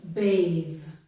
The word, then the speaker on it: bathe: If I add an E to this word, it becomes a verb and the TH changes. It becomes bathe. The vowel also changed, but I'm concerned about the TH right now.